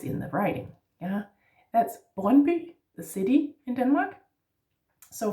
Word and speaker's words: Brøndby: Also with the Y, by the way, yeah, the Y, that Brøndby. The D is silent here, and the D, the